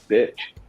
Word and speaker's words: Bich: These two guys are the BC Rich bitch, but it's spelled BICH.